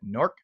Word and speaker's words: Newark: Notice the local pronunciation of NORC. That's the way they pronounce it. NORC, not Newark, but NORC.